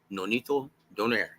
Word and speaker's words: Donaire: of the bantamweight division, Nonito Donaire. And I love the way Lupe announces it because he pronounces his surname the way it's supposed to be pronounced, right? Introducing the Filipino Flash, Nonito Donaire.